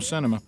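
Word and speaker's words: Sinema: christian is i mean it looks like it's spelled like cinema i can't say it right now they're all they're giving me thumbs up on cinema all right so christian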